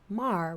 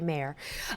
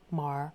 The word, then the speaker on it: Maher: Bill Maher. Rhymes with jar. I always have to say it to make sure I don't say Maher. This is New Rule. Everything is broken from Real Time with Bill Maher.